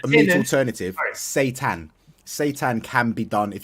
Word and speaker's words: seitan: It's like Satan.